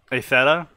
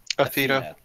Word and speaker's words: Athena: Atheta? How do you pronounce her name again? Athena.